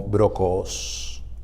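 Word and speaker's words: βρόχος: original para restricción es una palabra griega que pronunciada en español suena como brocos Este término en el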